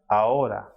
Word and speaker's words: ahora: H, which is pronounced as H, it is always silent and it will not be pronounced at all. It will not be pronounced at all. So H in Spanish is known as H and it will be silent. For example, hotel, hola, ahora.